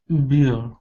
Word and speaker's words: bear: one is bear. It's an A-E sound. Bear. A-E. So it's bear.